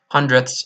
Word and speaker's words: hundredths: I call it hundreds hundredths you still spell it with a D but you don't really pronounce it two and 54 notice